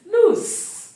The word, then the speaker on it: loose: lose the vocal Cults must vibrate towards the end because the sound is l o z when you say Z you can feel the vibration of the vocal cords that is the difference in pronunciation this is loose and towards the end here the vocal codes vibrate lose but the middle we have the long ooh beautiful okay we've trashed